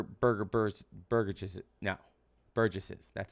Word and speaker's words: burgesses: house of burger burger burst burger juice no burgesses that's how you pronounce it okay um this is mini parliament